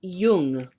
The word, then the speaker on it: Jung: It's pronounced young, like the word. It's Jung. But the audiobook narrator said young. Yeah, young. Because it's German. Like, Y's are, J's are Y's.